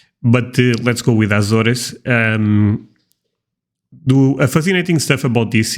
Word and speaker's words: Azores: The correct pronunciation is Azores, but let's go with Azores.